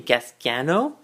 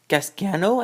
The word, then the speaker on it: Gasgano: And here is, I believe how you pronounce his name, Gasgano, and his pod racer, and let's take a look into it all.